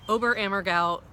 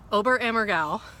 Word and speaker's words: Oberammergau: big passion play in over a Morgul Germany no over a mergal which is spelled just like it sounds is a little tiny